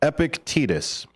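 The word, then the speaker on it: Epictetus: profound wisdom of the stoic philosopher epicus that is spelled epic e p i c t t s epic tetus uh captured in his Timeless quotes absolutely one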